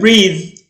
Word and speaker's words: breathe: when we breathe، طبعا هنا تتنطق ذه okay when we breathe، عندما يتنفس، وخليني أقول هنت سريعة كده breath وننطقها ثاء وتبقى معناها نفس، دي الايه الاسم نفسه. لما عايز أخليها فعل أحط لها إيه في الآخر وهنطقها ذه.